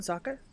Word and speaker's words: Sokka: Where are you going, Sokka? Oh. Hey. My name's Sokka. Rhymes with Don't do it.